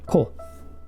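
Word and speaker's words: こ: Ko. There it is. Always pronounced ko.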